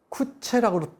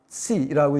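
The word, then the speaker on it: Coetzee: 쿠시는 쿠체라고 또 발음하는데, 이 쿠시 작품을 대부분 번역한 이 왕은철 선생이 직접 이 작가하고 이메일 문답을 주고받은 바에 따르면은 이 사람이 어느 책의 역자 해설에 나오는데 쿠시라고 있는 게 맞다고 얘기를 합니다.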